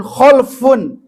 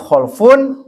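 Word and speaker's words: خَلْفٌ: Kalau Bapak bacanya sukun khalfun itu artinya alladzi yakhlufu salafahu bisyarri yang menggantikan pendahulunya dengan keburukan. Jadi bisa diartikan kalau dibacanya fatah khalaf artinya generasi yang baik lawan dari kata salaf. Kalau dibacanya khalfun artinya generasi yang buruk, penerus yang buruk, penerus yang rusak.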